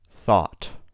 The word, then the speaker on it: thought: Thought, thought. Through, through. Thorough, thorough. You can see, depending on the word, the GH sound is pronounced differently.